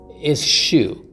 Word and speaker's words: eschew: E-S-C-H-E-W. C-H-E-W. chew. chew. 씹고 S. 버린다고 하면은 잘 외워지죠. eschew. But the pronunciation is a little different. chew, but eschew.